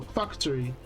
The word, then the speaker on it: Fakutori: Today we will be playing Faktorii. Well, Factory, but it's spelled Fakutori, I guess.